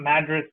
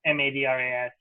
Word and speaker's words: Madras: I think it's called Madras Brewing Company, Madras, like the city in India, but it's pronounced differently.